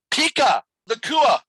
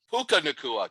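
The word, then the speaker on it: Puka Nacua: Pika Nakua. Pika Nakua? Puka Nakua, Ted, not Pika. Puka.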